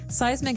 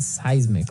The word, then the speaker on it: seismic: And so seismic activity refers to earthquakes and volcanoes, things that are changing under the ground that will affect us. Okay? So that's seismic activity. It's pronounced seismic, right?